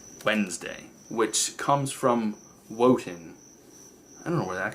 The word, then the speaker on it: Wotan: It's Wednesday, which comes from Wotan. I don't know where that comes from. It's really old. It's spelled like, what is it, W-O-T-A-N, Wotan's Day.